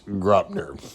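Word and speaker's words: Graupner: in the days, so I learned the pronunciation. It's Gropner.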